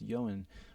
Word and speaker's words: Johan: people have no idea they always say oh yawn his name's yan i'm like no it's johan or johan and so if you